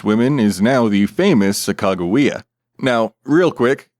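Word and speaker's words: Sacagawea: One of these nameless women is now the famous Sak Chicagoa. Now, real quick, the pronunciation I just used and will continue to use is not all that common unless you're also deep down this rabbit hole.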